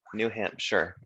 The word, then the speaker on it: New Hampshire: you have new hampshire it looks like new hampshire but it's pronounced sure new hampshire and that one i